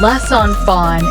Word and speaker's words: les enfants: For example, in les enfants in bracket, the children, the final S in les is pronounced before a vowel.